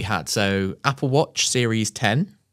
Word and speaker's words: iPhone X: I say like the iPhone X, people are like, what? It's like, no, it is spelled X. It's fine. I know it's 10.